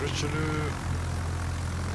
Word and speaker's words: Richelieu: Don't know why I keep saying Richelieu, it's an old bit of a joke. It is Richelieu. That's even the correct pronunciation of the gold brandy.